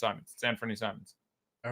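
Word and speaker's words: Simons: I'm not dithering anymore it's goddamn Simon's I went back because I said Simon's fears or nodes or to pronounce him and so it okay I'll change the Simmons and I found several sources and then I finally found him saying it so it's I'm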